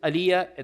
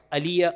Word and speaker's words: Alija: Uh his name is Aliyah. There's a J in it but the J is pronounced Y. Aliyah Ali is Begoich.